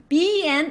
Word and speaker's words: 日: Alright, by the way, ben is now ben, alright? Ben, like en, is pronounced as as in taken, alright? So ben is ben, ben, and with the third tone, say ben, 日本日本日本 Japan, alright,